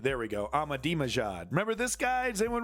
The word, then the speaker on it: Ahmadinejad: of a Yankee let's get it correctly here pronunciation yeah Ahmadinejad there we go Ahmadi majad remember this guy does anyone remember this guy